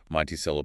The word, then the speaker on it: Monticello: Let's look at Monticello again, pronounced Monticello, population around 14,000.